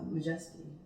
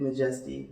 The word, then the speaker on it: M'Jestie: take out the A, take out the Y, and I just repronounced it as M'Jestie. And it fit better. It was a more humble thing. So it's like not true blue majestic, just a little bit M'Jestie, I think was the